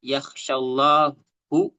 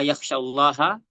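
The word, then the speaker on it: يخشى الله: Di sini kalau orang salah baca, innama yaksyallahu. Nah, ini selesai nih. Berarti istilah artinya tuh Allah yang takut kepada ulama. Tapi ketika kita di sini bikin bacanya innama yaksyaha min ibadihil ulama, maka di sini yang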